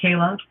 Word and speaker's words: Kaile: k a i l e is how you spell it and it's pronounced Kayla.